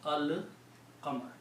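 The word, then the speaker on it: الْقَمَر: Qaf did not do anything to the lam. So you pronounce Al-Qamar. Then you look at the Surah Shams, وَالشَّمْسِ وَضُحَاهَا.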